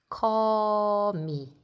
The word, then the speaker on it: 거미: 거미, 거미. This is originally sounds like go, but this syllable is in the beginning of a word, so we read this 거미, 거미.